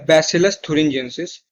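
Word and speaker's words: Bacillus thuringiensis: एक बैक्टीरिया है जिसका नाम है बैसिलस थुरिंजेंसिस.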